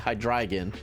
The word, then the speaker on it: Hydreigon: Hydreigon, whatever you want to pronounce. I gotta get used to saying Hydreigon because, you know, like dragon.